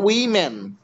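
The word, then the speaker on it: woman: will will তারপর তারপর উইম্যান তোমরা অনেকেই ওম্যান উচ্চারণ করো এটা কিন্তু উইম্যান আমরা তো ওম্যানই বলি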